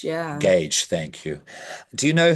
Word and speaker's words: Gage: how do you say his name here as Gage yeah Gage thank you do you know him um off